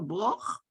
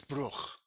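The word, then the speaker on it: ברוך: Oifa broch? No, it's not broch, it's bruch.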